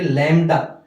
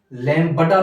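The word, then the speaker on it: lambda: और यहाँ पे लैम्डा, लैम्बडा नहीं बोलेंगे, बी साइलेंट होता है यहाँ पे, लैम्डा, ठीक है।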